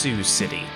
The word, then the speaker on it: Sioux City: be a cool idea to stop here in sea oaks seahawks city apparently it's pronounced sioux city kind of dumb as dumb as this slow